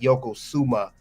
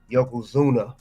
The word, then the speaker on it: Yokozuna: yes y yok Yoko well Yoko Zuma Yokozuna not Yoko suuma Yokozuna you spelled his name